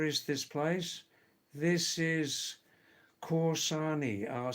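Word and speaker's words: Kausani: This is Corsani. I'll spell it because K A U S A N I.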